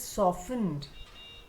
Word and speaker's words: softened: Soft softened is silent. So it is softened.